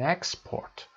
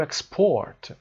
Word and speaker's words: export: The nouns are usually stressed on the first syllable, for example, an export, a record, and the verbs on the second syllable, for example, to export, to record.